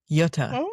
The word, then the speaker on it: Jutta: Um where she was in the care of this woman named Blessed Jutta. Yutta even, if you will. Blessed Jutta? A Blessed Jutta. Um So, they both they she was young too though. Jutta was young as well